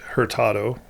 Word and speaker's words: Hurtado: Well, my name is Herertado, which is how we say it in English, but in Spanish it's my dad was from Peru.